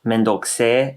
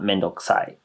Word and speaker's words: めんどくせえ: especially if it's pronounced mendokse and not mendokusai. Mendokse is sounds kind of like more like a guy is saying it, but girls can say it like that too.